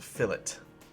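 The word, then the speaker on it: fillet: see here is called Phillip curves now I know it says the word looks like filet but in drafting terminology when making edits like this two shapes it's actually pronounced fill it anyway so if you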